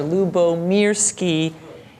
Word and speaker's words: Lyubomirsky: I was actually pointing to the pronunciation key of my name that I have there, Lyubomirsky.